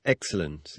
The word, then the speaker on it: excellent: Where's the accent in the word excellent? The accent in the word excellent is on the first syllable.